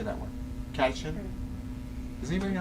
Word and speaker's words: catechin: Catechin. Does anybody know how to say that properly? Which one? The third one. Catechin.